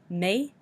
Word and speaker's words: médical: When you think about the French E with the accent aigu makes the A noise, and I makes the E noise, so you have to be very careful to pronounce the vowels like they are French. Médical, and we do say the L at the end.